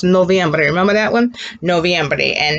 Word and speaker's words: noviembre: We told you earlier that the month of November is pronounced noviembre.